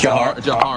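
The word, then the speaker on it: Dzhokhar: I believe it is pronounced Jahar. Right? Is that Jahar?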